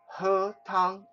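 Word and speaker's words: 喝汤: drink soup so to have soup you say her tongue h-e-r-t-o-n-g her tongue means uh to have your soup to eat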